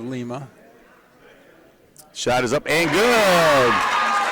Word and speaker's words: Lima: We have Lima instead of Lima. Shot is up and good by Justin Reagan. New announcers on Toledo radio stations will pronounce Lima as Lima.